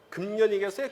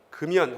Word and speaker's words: 금연: 이거 어떤 발음하겠어요? 금년이겠어요? 금연이겠어요? 금연 하겠죠. 따라해봐요. 금연. 금연이라고 발음하겠지. 그래서 연음되죠. 두 글자짜리 한자들은 그냥 연음돼서 니은 첨가를 하지 않습니다. 원칙적으로.